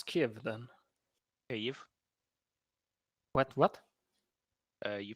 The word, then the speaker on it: Kyiv: Kyiv. What? You pronounce it Kyiv. There's just no There's sound. no H. Okay. Yeah. And in Kyiv there's no H.